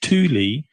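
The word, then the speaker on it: Thule: um it's actually sorry I mispronounced it's actually pronounced Tuli uh and in fact I think Torin pronounces it Tuli uh if you look at what the Tuli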